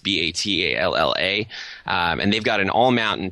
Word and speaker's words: Battaglia: Battaglia is how it's pronounced, Batalla.